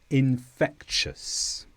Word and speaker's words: infectious: The ending TIOUS is pronounced quite differently to how it looks. We normally say shus, ambitious, cautious, infectious.